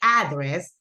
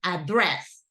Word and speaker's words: address: phone number correct correct so great pronunciation because usually people say address and Jana's pronunciation is the correct one address right I told you that if sometimes you forget remember of Andres same pronunciation okay great job Diana thank